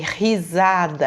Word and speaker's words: risada: Não falei risada, eu falei risada, é um som forte.